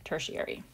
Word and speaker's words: tertiary: the degree symbol but we don't call it third degree we still pronounce it tertiary let's take a look